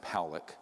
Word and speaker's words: Pollock: thousand views this man william pollock is pronounced palik uh was a man